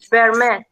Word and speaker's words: permit: per yes great perm when it's a noun the the first syllable so it's permit permit permit permit yeah